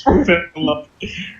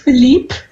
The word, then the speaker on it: Philippe: That one's name is Philip. Yep. It's pronounced Philippe.